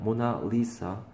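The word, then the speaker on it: Mona Lisa: 페인팅이구나 리사 문화 리사예요 영어식 발음은 모나리자가 아니에요 모나리사 가 아니라 액츄얼리 실제로이 사람이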